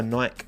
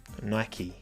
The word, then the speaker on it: Nike: Nike. Not Nike. Nike. Adidas, Nike. Because Nike is how you Americans pronounce it, right? And it's an American company. So you should respect how the country of origin pronounces.